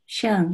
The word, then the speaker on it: Xiang: Am I pronouncing this right? Is that Xiang? Xiang, yeah, it's Xiang.